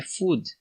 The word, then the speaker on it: food: hino no final é muitas pessoas falam um fast-food food mas é food a gente tem esse